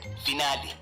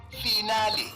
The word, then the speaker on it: finale: to mispronunciation today's word finale origin Italian pronunciation finale meaning the last part of a series commonly mispronounced as final as if you are discussing your metric results example I can't wait